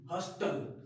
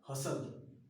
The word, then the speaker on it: hustle: HUSTLE, हॉस्टल। क्या चीज? हॉस्टल नहीं, इट्स अ हसल।